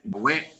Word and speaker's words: Yahweh: Porque gramaticalmente debe pronunciarse Yahweh, como está escrito ahí. Pero hemos escuchado a hermanos en predicaciones hablar de Yahweh.